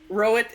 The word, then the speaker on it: Roet: hearing him say it, rowit is how my last name is pronounced.